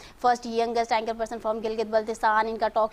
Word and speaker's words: गिलगित बल्तिस्तान: बहुत से लोगों को यहाँ पर इवन सही से प्रोनाउंसिएशन भी नहीं आती, गिलगित बलोचिस्तान बोल देते हैं, गिलगित बल्तिस्तान, इस तरह से भी जो है ना वो बोले जाते हैं यहाँ पर।